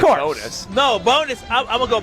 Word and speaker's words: Bones: feels too easy to be a pitcher Ricky Bones is probably like a rock star man this this guy's jam it at Summerfest is it bones or bom it's actually pronounced Ricky bonus bonus oh Ricky Bon that changes thing that